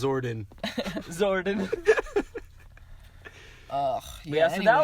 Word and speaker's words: Zordon: Oh, thank you for my power, Gordon. It's Zordon, Tony. Oh my gosh. Yeah, Gordon's a weird name. Gordon. I thought it was like Gordon. Yeah, but Gordon. It's actually pronounced Zordon.